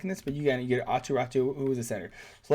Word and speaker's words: Aatu Räty: So Cap Friendly, the reason I'm using this one is because, by the way, Aatu Räty, he's Finnish, so that's how you say his name.